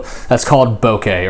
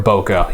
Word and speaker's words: bokeh: That's called bokeh or bokeh. You can pronounce it both ways, but it's the blur of the background.